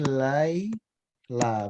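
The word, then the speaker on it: ليلى: Kalau nggak ada titiknya itu berarti dia alif sebenarnya. Cuma dia dibikin bengkok gitu aja. Jadi ini Laila bacanya.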